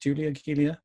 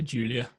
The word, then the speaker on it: Giulia: But this, I believe, is how do you pronounce it? Guilia? I say Julia. Yeah, I'm going to say Guilia then. At least one of us will be right.